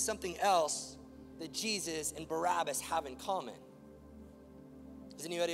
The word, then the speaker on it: Barabbas: His name was Jesus Barabbas. But the plot gets thicker than that. We actually say this man's name wrong. Did you know that? It's not pronounced Barabbas.